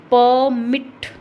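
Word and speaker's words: permit: हमारी प्रोनाउंसिएशन क्या रहेगी, परमिट, परमिट ये रहेगी। तो प पर क्या हो रहा है, ज़्यादा स्ट्रेस जा रहा है, तो यहाँ पर प्राइमरी स्ट्रेस होगा और यहाँ पर सेकेंडरी स्ट्रेस होगा।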